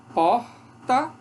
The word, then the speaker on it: porta: Porta, isso é a pronúncia de São Paulo, por exemplo. Porto Alegre, do Sul. Porta, porta, porta, porta, porta, vibrante múltipla. Porta, essa pronúncia aqui é mais do Rio de Janeiro.